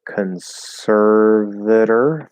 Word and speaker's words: conservator: So conservator, flap D, conservator. That OR is an it's not an or, because it's unstressed.